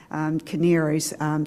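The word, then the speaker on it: Kanarys: co-founder of what's called canaries and it's not spelled like you would think it was but it's a k-a-n-a-r-y-s but caneers so i wanted to bring her forward to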